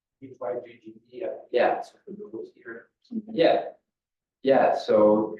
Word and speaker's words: hygge: I think it's pronounced Hygge or something like that. That's like HYGGE.